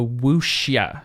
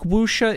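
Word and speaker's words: wuxia: Are you familiar with the Wooa genre? No. What is that? How do I spell that first?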